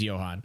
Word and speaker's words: Johan: I said Johan, but it's Johan. Okay. Like Johann Sebastian Bach.